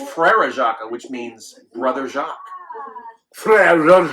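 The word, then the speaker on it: Frère Jacques: At least he's pronouncing it right. Instead of people usually when they try to sing that, they say Farajaka. That's not right. Because it's Frere Jacques, which means Brother Jacques.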